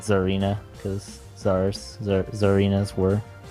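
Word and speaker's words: Tsareena: No idea if the T is silent or not. No, it is Zarina. Sarina? Zar. Like the Zarina?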